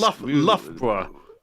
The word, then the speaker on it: Loughborough: Well, I mean, the thing is, Loughborough. Loughborough. Oh yes, Lugabrugger. Yeah, Lugabrugger. Loughborough.